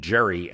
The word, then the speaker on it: Gerry: Not only has he lost his political dignity in history, But Gerry lost the hard G in his name, and gerrymandering is now an international term for a crime against democracy.